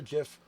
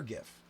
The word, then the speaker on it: GIF: it is pronounced either Jif or gif now I know people will tell me that I'm being silly about my hard G soft G thing and I'm old-school I'm